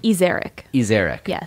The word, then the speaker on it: Ezarik: to how do you say your last name iser eeric Justine iser yes um I just wanted to